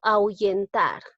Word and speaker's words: ahuyentar: Por ejemplo, si digo ahuyentar, como la H no se pronuncia, es como si estuviesen las dos vocales juntas, tanto la A y la U.